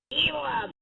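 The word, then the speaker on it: Elum: Stay elim. Oh, that's how you pronounce it.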